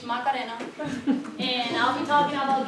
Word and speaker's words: Macarena: And as Dr. Vaughn said, but with a different pronunciation, my name is Macarena.